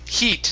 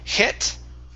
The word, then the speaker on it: heat: And the last one here is the word heat. instead of hit. Okay. It's e heat.